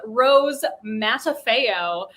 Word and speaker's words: Rose Matafeo: came out of my mouth her name is rose matafeo as i heard her pronounce it uh peter and i binged this